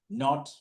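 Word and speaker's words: knot: Not, K-N-O-T, knife, K-N-I-F-E. They don't pronounce the letter K.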